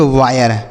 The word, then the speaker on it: wire: WIRE इसे पढ़ेंगे वायर। इसे ना तो वीरे पढ़ेंगे ना तो वर पढ़ेंगे ना तो वीर पढ़ेंगे, कुछ नहीं, आपको इसे वायर पढ़ना है।